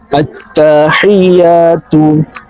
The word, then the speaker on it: আত্তাহিয়াতু: আত্তাহিয়াতু, আবার বলেন আত্তাহিয়াতু, আবার বলেন আত্তাহিয়াতু। হি, এখানে হচ্ছে হা, ছোট হা, হা, আত্তাহিয়াতু।